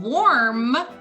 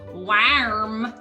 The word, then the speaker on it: warm: you have someone wearing warm clothes or so it's not pronounced worm clothes no no no in this case the ar is making an or sound just like in the word quarter this orange is cut